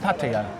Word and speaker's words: Pattaya: Pattaya.